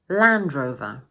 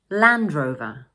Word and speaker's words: Land Rover: In the second word, in British English, we don't normally pronounce the final "r" sound, and instead, we use the Schwa sound: "Uh" So we say: